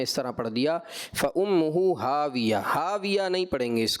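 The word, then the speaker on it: هاوية: طرح پڑھ دیا فَأُمُّهُ ہاویہ. ہاویہ نہیں پڑھیں گے اس کو، فَأُمُّهُ ہاویہ، واؤ پہ ہونٹ گول ہوں گے، ہاویہ. ٹھیک ہے، اور وقف میں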